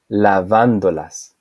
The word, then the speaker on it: lavándolas: Lavando, lavándolas. As you can listen, the stressed syllable is the same.